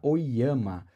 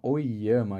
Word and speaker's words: Ollama: fonte TV que é sobre a oyama e sim se chama oama eu perguntei para ela como pronunci o nome dela e ela falou que é assim é uma intelig artificial